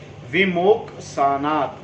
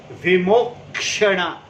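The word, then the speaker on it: विमोक्षण: Vimok sanat. Prak means before. Prak. Vimoksana means release. Vimoksana. I am pronouncing wrong. It is Vimokshana.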